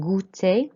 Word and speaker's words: goûter: And then you'll see the accent on goûter, on the U, which means you have to raise your voice.